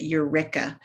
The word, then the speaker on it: Eureka: in eureka utah it's they pronounce it eureka but you know eureka utah where there was